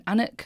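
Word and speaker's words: Alnwick: the poison garden in Anuk which is spelled Alwick but I'm told that's not how they say it.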